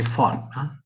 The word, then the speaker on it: von: In order to understand how the von Neumann, they say von. In German, V is pronounced as F.